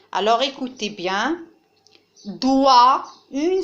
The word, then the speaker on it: doigt: Alors maintenant, regardez la place du son wa, doigt. Alors, la place du son wa ici est à la fin de la syllabe parce que GT ne se prononce pas.